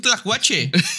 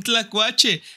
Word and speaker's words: Tlacuache: Tlacuache Tlacuache Tlacuache Javi A ver vamos a pronunciar esa l esa l nos está faltando Ok Tlacuache la l cuache no Pues de